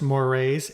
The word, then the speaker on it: mores: folkway we have mores that's pronounced mores m o r s those are more formal